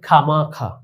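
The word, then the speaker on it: خوامخواہ: যেমন তোমরা দেখতে পাচ্ছ খে ওয়াও আলিফ হে। তো এই চারটি বর্ণের উচ্চারণ শুধুমাত্র খ আকার খা। তাইলে এখানে ওর উচ্চারণ আসেনি। ঠিক এখানে খা মাখা এখানে ওয়াও আলিফ এর ওয়াও এর উচ্চারণটি আসেনি। খামাখা যেমন খেদ খে ওয়াও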